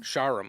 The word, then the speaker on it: Shahram: We've got filmmaker, how do you pronounce his first name? Was it Shahram? Shahram, okay.